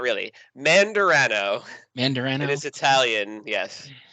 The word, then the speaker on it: Mandarano: Could you Give it a pronounce it? whirl. Give it a try. Menandarno? Close, but not really. Mandarano.